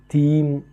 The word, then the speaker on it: थीं: ஸோ அது தீம் அப்படின்னு உச்சரிக்கணும். ஸோ கொஞ்சம் சைலண்டாக உச்சரிக்கிறோம்.